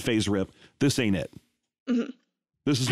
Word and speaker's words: FASERIP: game that exists called phase rip this ain't it this is what that is basically so you're pronouncing you're pronouncing the s like a z uh which is a